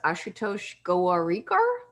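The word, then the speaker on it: Ashutosh Gowariker: I think his name is pronounced Ashutosh Gowarikar.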